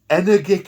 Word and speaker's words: energic: An energic dermal bond. Sort of like energy, but with a K.